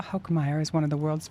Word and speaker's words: Hokemeyer: We have a special guest for everyone listening, Dr. Hokemeyer. Did I say it correctly? You said it correctly.